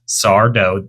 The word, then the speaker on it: Sardo: with another recurring character sardo which you do have to pronounce it as such sardo no Mis Accent on the do that's a specifically how he says his name is to be pronounced okay and he will repeat